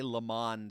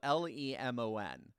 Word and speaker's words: Lemon: lemon i don't know i still cannot figure out how anyone could say lamonde seriously his last name is spelled l-e-m-o-n and when you see that do you say lemon no no more than